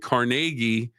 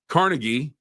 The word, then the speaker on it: Carnegie: Carnegie Hall now Cargi Melon University and Cargi the steel mogul, that's the way you pronounce it in Pittsburgh, uh where he's from, where he was headquartered. But Carnegie is uh the way you say it in New York City.